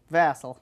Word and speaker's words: Vassal: Would you give me the pronunciation? Vassal.